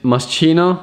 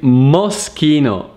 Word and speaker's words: Moschino: then we have the last one which is maschino or moschino moschino moschino mosquino it's actually moschino moschino moschino that's the right pronunciation okay guys these tiny videos are also